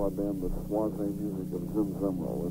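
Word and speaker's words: Swazze: Well, the newest album, which is called More Soise, that's a name that we use. We call our band the Soise music of Zim Zemeral.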